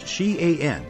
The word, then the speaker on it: Xi'an: Xi'an is pronounced Xi'an, and it is about 1,000 kilometers southwest of the capital, Beijing.